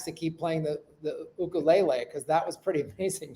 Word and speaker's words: ukulele: keep playing the the ukulele because that was pretty amazing to see why do you say ukul lelay it sounds ukulele lelay who the hell are what the that's the Hawaiian pronunciation ukulele ukulele it's like